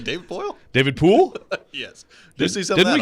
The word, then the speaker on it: Poile: David Poile? No, Gudbranson. Oh, Erik Gudbranson. It's like David Poile? David Poole?